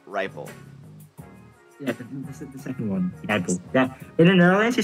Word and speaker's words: Rijpel: like rle rle like but like in English it's like a ripe you know like when a fruit is ripe okay yeah it's just riple to be it's it's I pronounce it as rle all right I rle